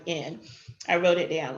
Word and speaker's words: Colvin: All right, so Miss Claudette Colvin, I said her name wrong, it's Colvin.